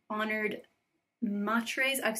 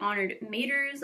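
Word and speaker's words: Honored Matres: to plan to create honored matr I've seen I looked up on the internet people pronounce it honored maters honored matri honored matre I don't know what it is but like corrupted type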